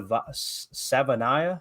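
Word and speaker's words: Savaiinaea: giddens um Jonah sa Savanah I think is how you say it out of Arizona okay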